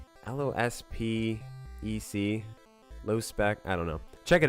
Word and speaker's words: Lospec: I guess so many people critique me like, you're saying it wrong, dude. It's not Lost Spec, it's low or whatever. So look it up. I think it's LOSPEC, low spec.